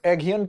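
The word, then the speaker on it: Aghion: तो देखिए, जोएल मोकायर कह लीजिए, मोकिर कह लीजिए, फिलिप एगियन कह लीजिए और पीटर हाविट कह लीजिए, इन लोगों को यह पुरस्कार दिया गया है।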